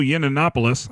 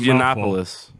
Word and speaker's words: Yiannopoulos: Uh next week we have scheduled Milo Yinanopoulos. I hope I pronounced that right cuz that's just Yiannopoulos.